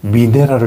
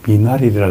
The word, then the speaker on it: 미네랄: 미나레이다 종합 종합 미나레 우리 대기자님이 미네랄을 자꾸 미나 미이라 그래요 어떻게 발음을 정확하게 교정할 수 있을까요 미네랄 미 미네랄 미네랄 미네랄입니다 예 예 독일 말이거든 사실